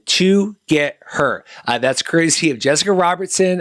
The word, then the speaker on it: TOGETHXR: read update here so it's pronounced together as in to get her that's crazy of jessica